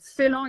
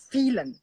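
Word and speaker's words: Phélan: Like Phelan is actually Irish. Even if there is an accent on the E, it originally back in the mid 19th century, it was Phelan.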